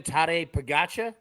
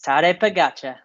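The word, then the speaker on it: Tadej Pogačar: on it I am too how do you pronounce that again tare pagacha yes tare pagacha I just want to hear a be on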